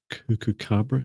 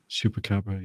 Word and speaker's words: Chupacabra: It reminds me of I can never say its name, Cucucabra. Is that how you pronounce it? Chupacabra? Chupacabra, yeah.